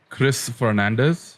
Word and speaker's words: Fernandes: This is a Not Gonna Lie episode 4 with Chris Fernandes, right? That's how it's pronounced?